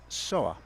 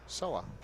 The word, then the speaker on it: Seoa: again you said solar Sawa Sawa almost like saw that without the D Sola yeah I mean